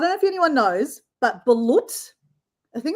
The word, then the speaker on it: balut: There's in the Philippines, it's balut, which is chickens that haven't been formed in an egg.